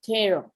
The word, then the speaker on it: tarot: explanation okay do okay in english the last t is silent okay terror okay is um there's